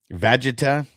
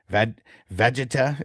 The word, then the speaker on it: Vegeta: I don't know if you know how to pronounce the name. Okay, so it's Vegeta. Is that what it is? Vegeta?